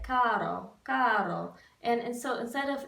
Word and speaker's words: caro: some other places like caro, caro. And so instead of, it's actually closer if you say cado, cado with a D sound instead of an R.